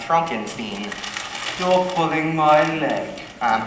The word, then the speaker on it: Frankenstein: startled me but that's singing my name is pronounced Frankenstein still pulling my leg um you know I'm